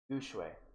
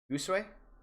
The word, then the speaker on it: Gushue: It's pronounced Disdadio Gushue. Gushue. Gushue. Gooseway? Because I heard Gooseway, but it's Gushue? Goosh, as in, shut up.